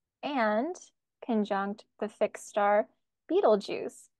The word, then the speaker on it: Betelgeuse: conjunct the fix star Beetle Juice not to be confused with the Beetlejuice movie but I wonder if that's where they got it from yeah and Eno says he thinks it's pronounced beetle guys but I like Beetle